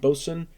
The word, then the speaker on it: Boatswain: be reviewing this is boson boatswain it's pronounced boson hlv ale heavy lift